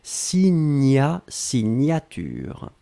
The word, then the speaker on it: signature: un substantif essais signature souvenez-vous le gn la prononciation senio gnognotte signa signature c'est féminin de vous le voyez ici comme